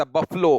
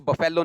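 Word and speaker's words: buffalo: टैथर द बफलो, और हाँ इसको बफेलो नहीं कहते, बफलो बोली जाती है।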